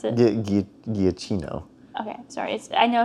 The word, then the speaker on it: Giacchino: You're laughing like you know how to actually pronounce it. Giacchino.